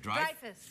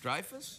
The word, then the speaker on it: Dreyfus: It's not Dreyfus. What is it then? Dreyfus. Dreyfus? Yeah, like drive a car, but Dreyfus. Oh, Dreyfus, really?